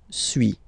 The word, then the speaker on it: suis: So first one, suis, as you've been noticing, you don't pronounce the final S, okay?